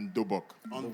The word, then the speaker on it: dobok: en kimono, mais en dobok. Premièrement, en langue coréenne, on dit dobok, qui s'écrit D-O-B-O-K. D-U-B-U-G, certaines personnes écrivent comme ça, dobok.